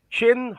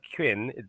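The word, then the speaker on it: Qin: number four is uh chin Hong Yu it's chin not Quin although it's spelled with a Q it's chin Hong Yu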